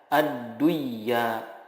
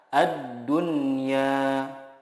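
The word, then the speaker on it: الدنيا: Contohnya, ad-dunya, tidak dibaca ad-duyya, tetapi yang benar adalah ad-dunya.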